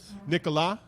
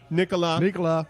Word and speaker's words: Nicolas: Nicolas. The S is silent. Nicolas.